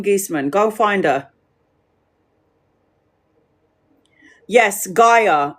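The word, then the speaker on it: Gaia: Guyia. But it's GIA is spelled G A G A I A.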